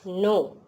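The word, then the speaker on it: know: नो। क्या है? नो। यहाँ पे के का प्रोनाउंस नहीं होता है।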